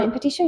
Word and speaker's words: Mon-Petit-Choux: So you guys can check that out, and also check out Maribelle Cakery, Mon-Petit-Choux. Did I pronounce it right? Mon-Petit-Choux, yeah.